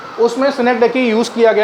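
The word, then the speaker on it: synecdoche: सिनेकडैकी या सिनेकडॉश या सिनेकडॉच? CH से चा भी बनता है, का भी बनता है। इसका सही प्रोनाउंसिएशन है सिनेकडैकी।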